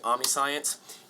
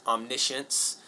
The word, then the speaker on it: omniscience: I look at it I want to say Army science Pro tip it's pronounced omniscience doesn't look like it though so now God's